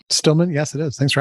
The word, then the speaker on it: Stillman: talk by Stillman is that the correct pronunciation right Stillman yes it is thanks for asking there's also